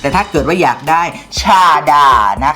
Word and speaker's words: ชาดา: เล็ก ค่ะ สี ดำ ชา ดา นะ คะ ไม่ อ่าน ว่า ชฎา นะ คะ ชาดา ค่ะ อีก เจ้า ของ ชื่อ ว่า